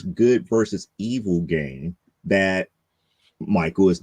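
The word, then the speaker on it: Mychal: to pronounce it but it is spelled m-y-c-h-a-l but it's really Michael uh actually being tossed to Earth and is kind of like a pawn in this good versus evil game that Michael is not aware of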